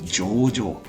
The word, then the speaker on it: 上場: So this one is actually 上場, and this is actually pronounced as 長上. So maybe I have to be more careful. 上場, which means listing.